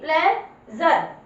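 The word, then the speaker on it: pleasure: Method बता रही हूँ, एस यू आर ई, जब भी ये लिखा है लास्ट में तो उसको किसकी आवाज देंगे? जर की, ध्यान दीजिए, उसको किसकी आवाज दोगे आप? जर की।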